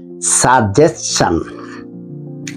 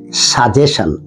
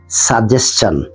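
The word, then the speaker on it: suggestion: জি ই এস টি আই ও এন এটার উচ্চারণটা হইলো সাজেশন পরামর্শ আমরা সাধারণত যারা ইংলিশ আমাদের মাতৃভাষা যাদের না তারা এটা উচ্চারণ করি সাজেশন সাজেশন উচ্চারণটা হবে সাজেশন figure out figure out হলো খুঁজে পেতে এটা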